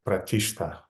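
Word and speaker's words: प्रतिष्ठा: root stan is coming pratishta. И точно так же из этого слова стан происходит слово пратиштстан. Да. But it's pronounced without stan, it's just pronounced like pratishta.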